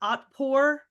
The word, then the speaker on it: Otpor: Do you know, I'm sure you know something about it, but Otpor, is that how you say it?